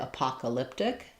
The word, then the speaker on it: apocalyptic: Then it's gonna move to an open a stressed on the paw. It's an apocalyptic except for I'm not going to say that t aspirate. Apocalyptic. Apocalyptic sound a little bit more like a d because of the blend.